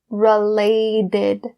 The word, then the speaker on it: related: So the T sound in related is changed to a D because it's in between two vowel sounds. So it would be said as related.